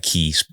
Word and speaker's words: Kei: The Kai River. That's how they pronounce it. Looks like Kei, sounds like Kai.